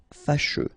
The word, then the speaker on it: fâcheux: So final X not pronounced, and then you get your combination of U, E. Fâcheux.